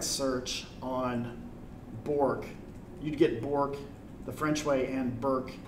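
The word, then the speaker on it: Bourque: pronunciations like names like my name is Bork Bo you are qu e which is just French version of Burke B you are ke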